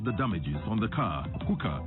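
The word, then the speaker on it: HUCA: Hookah is spelled H-U-C-A.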